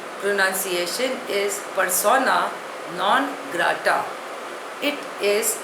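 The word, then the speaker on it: persona non grata: जी ी आर ए टी ए pronunciation is पसोना नॉन ग्रा इट इज अ Latin word it means अ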